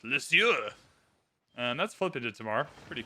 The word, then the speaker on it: Lisieux: Lisieux. That's how I pronounce that. It's not a French city, but I'm going to give it that French, like, guttural throat noise. Lisieux.